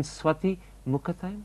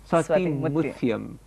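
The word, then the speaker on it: Swathi Muthyam: People often say that perhaps your best performance, and I'm going to mispronounce the name, so correct me, was in Swati Mukhathayam? Mutyam. Swati Mutyam.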